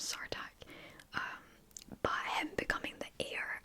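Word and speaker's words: Sartaq: I've been saying his name wrong, his name's Sartak.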